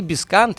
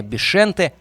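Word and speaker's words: Bixente: совсем юном возрасте, и Бискант, или более баскский вариант произношения, Бишенте Лизаразю, ставший первым игроком Атлетика, который родился во Франции, во французской Басконии, где и начинал свою карьеру.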